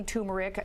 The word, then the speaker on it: turmeric: I say turmeric. Some people drop the R and say turmeric.